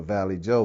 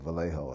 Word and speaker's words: Vallejo: Our understanding when we were moving here, we thought we were moving to Valley Joe, California. Because we didn't understand the pronunciation of Vallejo at that particular time.